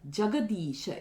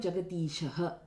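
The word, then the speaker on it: जगदीश: Again, Jaya, Jagadisha. It's not Jagadishaha. So, it is not in Prathama Vibhakti. It is in Sambodhana. Jagadisha.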